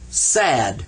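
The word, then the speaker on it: ص: it says si D sad a little bit sad when you say it's a sad I'm sad I've seen someone who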